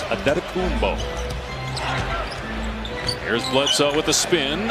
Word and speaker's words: Antetokounmpo: Pronunciation guide in the Milwaukee game notes, it is Antetokounmpo.